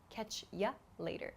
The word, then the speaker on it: catch you later: catch you later again the pronunciation reduces here so not catch you later but catch you later catch you later so you can hear this U becomes y catch ya later catch you later catch